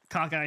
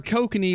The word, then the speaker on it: kokanee: I legitimately read it as cockeye salmon the first time. Gosh. And then I heard you say it correctly, and then I just chose to ignore you. Well, they're kokanee, which are the landlocked version of sockeye salmon,